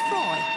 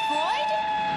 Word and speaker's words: Froy: By the way, my name is Froy. Did you say Freud? No, Froy, not Freud. Froy. I'm sorry, I can't hear you. Froy rhymes with joy.